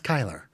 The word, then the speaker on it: Kyler: We told you his name's not Curly. That's Kyler.